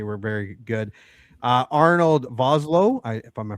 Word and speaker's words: Vosloo: Uh Arnold Voslo, I if I'm pronouncing that right. Vosloo. Vasloo and Lance Henrikson.